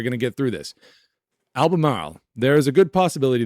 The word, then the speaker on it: Albemarle: It's pronounced Albemarle. It's hard with my New England accent, but we're going to get through this. Albemarle.